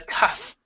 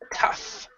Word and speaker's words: tough: it's more of a tough tough so there are some rough there are some times when the GH has sounded you say it but then it's an F sound tough a rough and other